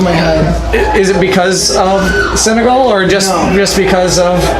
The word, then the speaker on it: Senegal: this week finally Senegal right I pronounce all right yes yes like me like the country yeah the country is